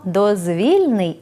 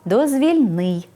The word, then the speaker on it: дозвільний: а отже власней відзначення вимовляємо дозвільний з наголосом на другий склад коли прикметник походить від іменника дозвілля і означає Вільний від якоїсь праці стосовний до вільного від праці часу притаманний такій порі наприклад дозвільний час дозвільні ігри дозвільні розмови коли ж прикметник походить від іменника дозвіл і характеризує те що дозволяє здійснювати щось вимовляти треба дозвільний з наголосом на третій склад наприклад дозвільний порядок дозвільні